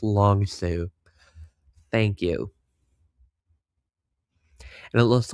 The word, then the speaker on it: Long Sault: Oh, it looks like people are pronouncing it, correcting my pronunciations. Yeah, I'm not going to be any better than Adam, so it's Long Sue.